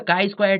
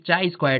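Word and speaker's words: chi-square: test now coming to the kai Square test people used to pronounce this chai square test also this kind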